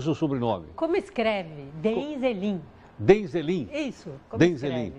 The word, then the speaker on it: Deheinzelin: como é que eu pronuncio o seu sobrenome? Como escreve? Denzelin.